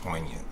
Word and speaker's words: poignant: it a nice word what rhymes with poignant though not really anything not not a true rhyme poignant poignant onion like what has that sound in it onion besides poignant onion is